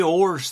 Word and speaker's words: oars: I said oars. Not horse. I said the oars that you row with, row the boat. OARS.